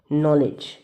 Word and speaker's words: knowledge: ठीक है, नॉलेज, इसकी जो साउंड है वो के से ना पढ़ करके, फर्स्ट वर्ड के है बट ये साइलेंट है, लेकिन हम इसको प्रोनाउंस कैसे कर रहे हैं?